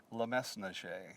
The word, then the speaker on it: Le Mesnager: There are those that pronounce the S and those that don't pronounce the S. Now, I was taught Le Mesnager, so I pronounce the S.